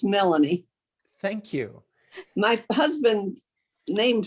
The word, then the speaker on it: Melanie: hurt your feelings um my daughter's name is melanie not milani a lot of people pronounce it that way but it's melanie thank you my husband